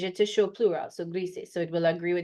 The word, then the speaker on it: gris: Morado, gris, so we make sure we pronounce the S and the I gets more of an E sound.